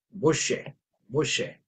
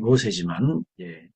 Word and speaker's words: 모셰: 샤마임, 하늘, 모셰. 이제 우리가 한국말로는 이제 순하게 발음하기 때문에 모세지만 히브리어는 모셰가 되겠습니다.